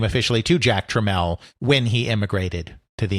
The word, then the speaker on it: Tramiel: And of course, that name is pronounced Jack Treml. Treml, not TML as people would continually attempt to say it,